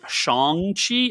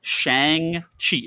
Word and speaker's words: Shang-Chi: by the way um if you pronounce it shong chi i'm just go off the podcast okay like how he says it that's how he says it in the movie so they are allowed to pronounce it wrong within the context of their own movie ryan's rules here it is shang shi it has always been shang shi it will always be shang chi the character's name is